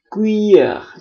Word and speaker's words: cuillère: OU pada video sebelumnya dia dibaca U seperti dalam bahasa Indonesia, sementara huruf U sendiri dalam bahasa Prancis dibaca U. Jadi ini sebenarnya cuillère.